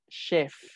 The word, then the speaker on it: chef: river danger time shift lo pronuncian como sh esta palabra que es la tomaron de otro de otro idioma si con ese h aquí no es jefe con jota div align chef tampoco digan chefs como